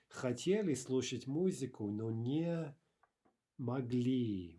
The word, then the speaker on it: мог: Я хотел купить книгу, но не мог. Не мог. Remember that final g is devoiced. Sounds like a ka, right?